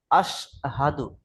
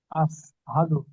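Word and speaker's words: أشهد: জি, কিন্তু এখানে দেখেন তিন নক্তালা শিন আছে মোটা আওয়াজে, আশহাদু। আসহাদু। ওটা আপনার সিন আসছে, চেষ্টা করবেন ওটা শিন করে নেওয়ার জন্য, মোটা আওয়াজে শিন।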